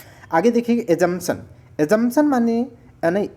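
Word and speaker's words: assumption: एजमशन माने नहीं एजंपशन of charge. एजंपशन एजमशन of charge. देखो इसमें पी साइलेंट होता है। A double S यू एम पी खा जाते हैं लोग बोलते हो लेकिन लिखना है एजमशन। ठीक है?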